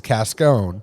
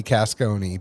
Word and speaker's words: Casconi: name is casconi and if you get some of the family pronunciation it's cascone it technically should be casconi but i am very italian so i was very sensitive of the right way to pronounce it same here i'm very